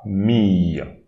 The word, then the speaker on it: famille: And here again we have the ILLE. So here we read fa famille, famille, famille.